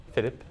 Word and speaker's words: Philippe: wouldn't that be like Philippe? Philippe. Okay, Philippe. Yeah, I'm saying it in Quebec way. If you go to France, you probably hear Philippe.